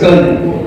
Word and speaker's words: colonel: अपन कैसा क्लोनल है वो प्रोनाउंसिएशन है, सो दैट्स कर्नल।